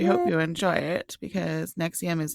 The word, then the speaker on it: NXIVM: And on today's episode, Ashley's going to be talking about the cult NXIVM. And I hope I pronounced that correctly.